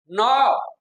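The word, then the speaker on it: know: Sita talk very Ravi नो नो में के और डब्लू साइलेंट है क्या है बेटा के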